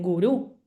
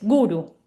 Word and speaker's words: guru: la última sílaba, eh, como por ejemplo la famosa palabra guru, que muchos dicen gurú, no, no es gurú, es guru. Sí, nunca acentuamos en la última sílaba.